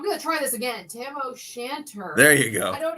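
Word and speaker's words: Tam o' Shanter: We got tiara, square head van, Tamo Shatner, bonnet.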